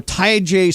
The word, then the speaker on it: Tyjae: How do you pronounce Spears' first name? Is it Tyjae? Tyjae.